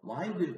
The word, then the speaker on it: wind: 됩니다 넘어갑니다 윈드 중요합니다 윈드를 바람이라 뜻이고 인드라 발음이 되면요 와인드 감다 뜻이래요 이렇게 와인드 와인드 간다